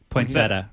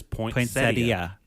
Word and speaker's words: poinsettia: So it's like cuz it blew my mind when cuz I've always pronounced it poinsetta. Me too. But it's it is poinsettia is the correct and it is spelled that way.